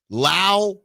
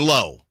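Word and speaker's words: Lowe: They pronounce them differently. Lao and Low.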